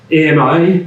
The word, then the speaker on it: AMI: Beyond Beyonds entally uh we call this program uh Ami Advanced machine intelligence we pronounce it um because some of the leadership at fair is French and EM means friend in French that sounds like it's